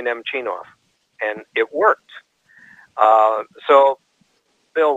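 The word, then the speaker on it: Nemchinov: you drop out just practice dropping off the middle syllable and say nem Knopf namnam them go off so I did a few times to him and he said it's easy isn't it I said yeah and he said okay now put the middle syllable back and say nem Chien off and it worked so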